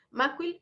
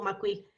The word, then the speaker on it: Macuil: Siempre le digo, cuando me refiero al doctor, Macuil o Macuil.